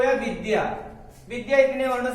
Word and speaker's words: विद्या: इसको अगर धा पढ़ेंगे तो गलत हो जाएगा। इसलिए दा में या लगा हुआ, आ लगा हुआ है, दा में आ लगा हुआ है, इसलिए विद्या, विद्या।